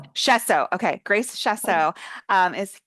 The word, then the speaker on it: Schoessow: Grace, I should have double checked how to present how to pronounce your last name. How do you say it? I'm so sorry. Chesso. Say it one more time. Shesso. Shesso.